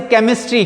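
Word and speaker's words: chemistry: Then comes rule number 3, while pronunciation, एक और CH की आवाज जो आती है वो K की आती है। फॉर एग्जाम्पल कुछ है, जब हम CH को प्रोनाउंस करते हैं, प्रोनाउंसिएट करते हैं, तो उसमें CH की आवाज, जैसे केमिस्ट्री, K की आवाज निकालता है ये, ठीक है ना, केमिस्ट्री या केमिस्ट, ठीक है।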